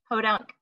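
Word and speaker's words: Peauxdunque: the podunk writers alliance but podunk is spelled like in the french style so it's a p e a u x d u n q u e it's like very cool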